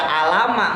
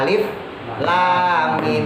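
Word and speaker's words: الم: Kita nggak baca alama, enggak. Bukan alama, bukan. Kita bacanya alif lam mim gitu kan. Jadi kita baca huruf aslinya. Kita baca huruf aslinya, itu yang disebut dengan huruf muqatta'ah.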